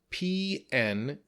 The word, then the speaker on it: pneumonia: next we have pneumonia pneumonia has an odd spelling because we have a silent P it's spelled p-n-e-u-m-o-n-i-a but we don't say the P it said pneumonia and pneumonia is lung